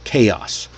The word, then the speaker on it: chaos: Most learners, most people see the ch and they think ch like chair. But here, nope, it's that hard C sound again.